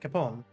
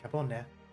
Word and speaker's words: Capone: Because I know Italian doesn't usually not pronounce words at the end, not pronounce letters at the end. That's more French, but I don't know, something about it. I think English sort of messes it up a bit, so we're used to saying things like Al Capone. But, so it is an air, so it would be Capone.